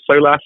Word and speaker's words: Solas: You're also the director of Solace I think is how we say that. So explain to us what that is as well. Yes, you got the pronunciation pretty much right. So Solas is the GA word for light because originally